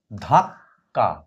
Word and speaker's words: ধাক্কা: লিখেছি ধ আকারে ধা ধাক্কা এই ধাক্কা শব্দটা উচ্চারণটা কিরকম হবে? ধ আকারে ধা কয় হসন্ত ক আকার ধাক্কা অতএব কেনা উপরের কটা উচ্চারিত হবে নিচের কটা উচ্চারিত হবে উপরের কটা হালকা উচ্চারিত হবে বোঝা যাবে কিন্তু খুব